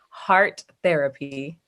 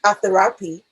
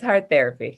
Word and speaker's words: hARTherapy: my name is heart therapy oh i was wondering because i would have pronounced it a therapy but i wasn't sure oh no it's heart therapy yes what therapy wow